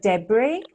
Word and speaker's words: debris: pronunciation of the word debris yeah I tried a I have to practice a lot but I I understand that the S is not pronounced is debris exactly exactly